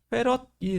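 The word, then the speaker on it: 패럿: 기호로 C를 쓰고 전기 용량의 기호를 C를 쓰는 거고, 얘의 단위는 페럿이 되는 겁니다. 대문자 F로 쓰고 페럿이라고 읽어주면 돼요.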